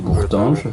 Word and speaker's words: Bourtange: Un fuerte, Bourtange, se puede pronunciar en francés, Bourtange, en una frontera con Alemania, no está muy lejos.